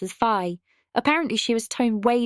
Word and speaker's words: Fi: The other main criticism often voiced about this game is your companion Fi, who in Japanese is pronounced as Fi.